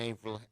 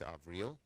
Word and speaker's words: Avril: to tony blinken and april avril haynes she corrected my pronunciation it's avril president-elect biden continues to